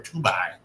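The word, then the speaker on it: Tubi: be headed to Fox tuby or tuai how you say it tuby tuby right tuby okay cool after the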